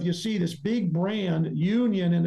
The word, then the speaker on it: Younion: And the name of that brand is called Union Student Housing. But here's the thing. It's spelled Younion.